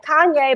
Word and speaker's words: Kanye: So I said, okay, Kanye, but with the E, Kanye.